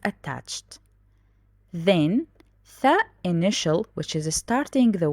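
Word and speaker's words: ث: Tha, which we pronounce it th, tha. Tha for basic, 1, 2, 3 dots, the same body with different dots.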